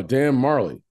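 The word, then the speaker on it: Dan Majerle: far born in 93 Alvin Jones Warren kid Dan Melly oh Dan Marley is that how you say it yeah from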